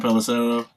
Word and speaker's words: Pelissero: Tom Pelissero.